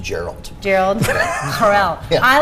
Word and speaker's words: Jor-El: No, I like It's pronounced Gerald.